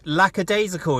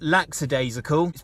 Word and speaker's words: lackadaisical: to spell it with that's because it is lackadaisical it's not lackadaisical probably because of the influence of the word lacks which is now used as